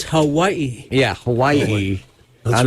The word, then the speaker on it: Hawaii: It's Hawaii.